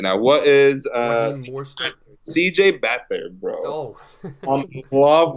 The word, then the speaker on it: Beathard: Like, oh, CJ Beat Hard. So I'm like, how do you actually pronounce it? Such a struggle last week. CJ Beat Hard, man. It's so awful. So it's Beathard? Okay, then. It's Beathard.